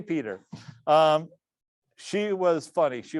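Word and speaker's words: Petre: call it you know petrie or something it took me a while though somebody corrected me and said no that's pronounced peter fred you just you're spelling you're pronouncing it wacky so k peter um she was funny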